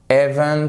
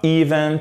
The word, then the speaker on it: event: Et après, c'est pas Event, c'est pas event, c'est event.